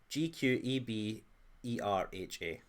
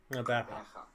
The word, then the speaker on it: Gqeberha: It's kind of like Rebecca. Gqeberha. Okay, it's straightforward actually. You're not saying it right, but sure. It's a good analogue for a non-native speaker. Oh. Rebecca. Gqeberha. No, you've got to go the ha at the end.